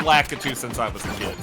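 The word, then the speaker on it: Lakitu: Lacatu.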